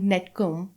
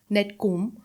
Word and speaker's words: Nectome: really interesting startup called Netcom. Nectome. Nectome. Yeah. Nectome. Yes, Nectome. It's not net. It's nect. I It's think. Nectome. Are you sure? Just like you would pronounce nectar. Yeah.